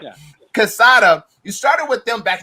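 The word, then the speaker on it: Quesada: I'm gonna mess it up because I'm not Hispanic, but Casada. The Q sounds like a K, but it's whatever. Yeah. Casada.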